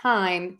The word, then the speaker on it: thyme: in Thomas we have another homophone there time um which is the spice um or the seasoning and Thyme t-i-m-e are pronounced exactly the same and then sometimes we